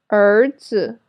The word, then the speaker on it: 儿子: This sound is similar to the ER sound in writer in American English, but it's longer. So raise your tongue a little higher and hold the position. So remember to pronounce it a little bit longer.